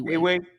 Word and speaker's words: Ewe: I don't know if I'm butchering it, but it's EWE. I should say Awe. Yeah, I just say Awe all the time. That's how I pronounce it.